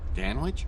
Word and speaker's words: Danch: surprised you remember me danch are you kid me rhymes with man witch and man witches are